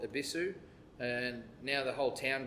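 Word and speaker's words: Yebisu: They're both actually pronounced Ibisu. So the Y is silent, is what I'm trying to say.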